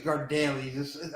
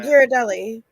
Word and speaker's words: Ghirardelli: I just mentioned earlier is I don't think it's Gardelli's. I'm not saying it right. Ghirardelli.